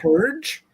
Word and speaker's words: Purg: Purge? Purge? It's pronounced purge.